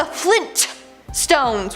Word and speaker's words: Flintstones: No, apparently it's the Flintstones with the hard T.